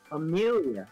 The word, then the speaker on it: Amelia: Amelia. That's how you pronounce Amelia. Amelia. That's why it's on the nose. Amelia. See, fuck Amelia. It's Mela. Fuck you. It's not Mela.